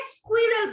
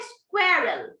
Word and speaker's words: squirrel: আচ্ছা অনেকে এটাকে স্কুইরেল বলছো, মিসের কথা ভালো করে শুনতে হবে, ঠিক আছে? না হলে কিন্তু প্রোনাউন্সিয়েশন ভালো হবে না। এটা কিন্তু স্কুইরেল না, এটার প্রোনাউন্সিয়েশনটা হবে স্কোয়ারেল। ওকে, স্কোয়ারেল, 77 স্কোয়ারেল।